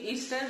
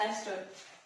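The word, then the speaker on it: ester: इसको मैं अपने ट्यूशन टाइम में प्रोनाउंस करती थी ईस्टर, बट इट्स नॉट ईस्टर, इट्स एस्टर।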